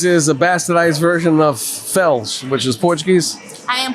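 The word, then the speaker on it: Félix: they heard him and you don't you don't pronounce Felix Felix in Portuguese you pronounce it Fels well my last name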